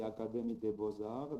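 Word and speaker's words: Académie des Beaux-Arts: starting from almost to centuries ago was the academy de bozar this is how it is pronounced or the academy of fine arts in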